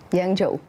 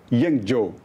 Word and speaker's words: Yangzhou: Yangzhou. Yangzhou. É uma pronúncia um pouco difícil.